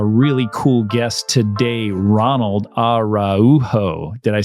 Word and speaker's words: Araujo: I have a really cool guest today Ronald araujo did I say it right yes he did